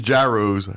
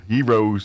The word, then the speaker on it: gyro: uh attention I sure do love these gyros. Heroes. Gyros. That's one I still struggle with because I always feel like I'm trying too hard when I say yo. I think it's yro. Yeah. But so many people say gyro that if you say yo, people look at you like you're some boozy.